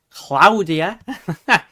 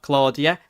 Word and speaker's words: Claudia: There was that really bad um flooding yesterday from Storm um Claudia, which is how you pronounce it. Not Claudia, Claudia.